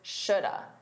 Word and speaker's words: should have: combine them together and it sounds like should have, you should have, you should have called. And we forget that the uh is have. It's not of because uh sounds closer to of. But it's not of. It's have.